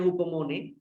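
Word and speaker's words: ὑπομονή: Dalam bahasa Yunani, ya, hupomone ya, pengucapannya hupomone, ini berarti keteguhan, ketahanan, ya, atau penuh harapan, kesabaran, sabar yang berkelanjutan.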